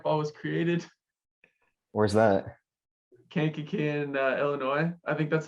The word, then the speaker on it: Kankakee: Kankakee in Illinois.